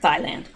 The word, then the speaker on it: Thailand: to thailand and that is actually how you pronounce it thailand he did he pronounced it right but the